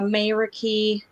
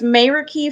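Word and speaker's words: meraki: up and running yet but it is uh mayra key let me get it i want to make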